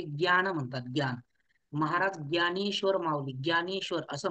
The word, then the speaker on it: ज्ञान: माऊली ज्ञानेश्वर असं म्हणतात आपण महाराष्ट्रानुसार ज्ञ म्हणतो ज्ञानेश्वर पण व्याकरणानुसार त्याचा उच्चारण काय आहे तर असं त्याचं उच्चारण आहे ज्ञान कारण की तो ज आणि मिळून तयार झालेला आहे मग प्रश्न